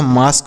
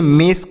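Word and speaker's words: mask: के से क यह मास्क हो गया इसे मेसक नहीं पढ़ना है मस्क नहीं पढ़ना है मास्क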